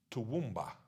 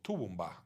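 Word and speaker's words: Toowoomba: as uji, or, say, swamp would be pronounced as tuwumba, or tuwumba, as in the town near Brisbane, swamp, tuwumba.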